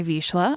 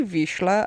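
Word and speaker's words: Vizsla: just because you say visha and I know it's cuz it's like German visha yeah like like it's spelled v i z s l a visha okay I just think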